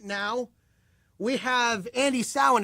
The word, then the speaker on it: Andey Samhain: on the phone right now, we have Andey Samhain. Is that Andey Samhain? Is that correct? Is that how you pronounce it? Yes, that is correct.